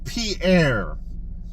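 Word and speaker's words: Paré: Now it's Pierre. I even wrote it on the backs. I always get confused on how to pronounce his name.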